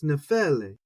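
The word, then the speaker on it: νεφέλη: I want to say nephele, anglicize it, but it's nephele. Same thing in that verse, nepheles. And we keep going. Luke 12:54, nephelein, and you see none of them really falling on the first syllable.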